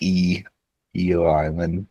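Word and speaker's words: Ieoh Island: So, uh, they spell it I Oo Island um, but in pronounced Eio Island.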